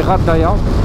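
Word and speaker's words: Ghardaïa: du désert à rardaya on dit rardaya ça s'écrit gardaya GH et ouais l'aventure commence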